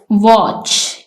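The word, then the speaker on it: watch: वॉच, इसमें T silent है।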